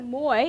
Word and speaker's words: Moy: So Moy, and I'm here with Carolyn.